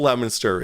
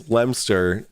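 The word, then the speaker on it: Leominster: I'm in the UK where the original Lemonster is. It's Lemster.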